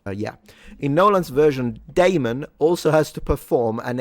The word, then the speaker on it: Damon: I always think I'm saying demon with a with an accent when I pronounce his name. Matt Damon.